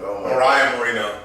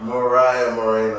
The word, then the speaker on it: Mariah Moreno: it's it's about the i said her name wrong mariah mourinho mariah moreno oh my god like you